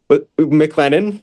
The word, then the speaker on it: McLennan: He's McLennan. Am I saying it right? Yep, McLennan Junior College.